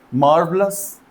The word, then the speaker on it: marvelous: मार्वलस actually English में आर का जो प्रोनाउंसिएशन है उसको ओमिट करने का एक ट्रेडिशन है, जिसे हम ध्यान में